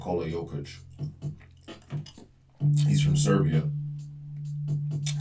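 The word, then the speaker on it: Jokić: I was really h say his name Yokic.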